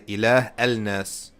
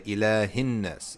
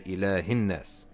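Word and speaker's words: إله الناس: A wasla is a connector, so there's no pronouncing. You don't say ilah al-nas. No, you say ilahin-nas.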